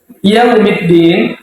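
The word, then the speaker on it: يَوْمِ الدِّين: harakat pada kalimat yaumi Nah di sini jangan kita anggap yaumi itu sebuah tajwid Mad bukan yaumiddin kalimat Yaum itu tidak ada tajwidnya jangan kita anggap sebagai Mad Madin bukan Madin itu ketika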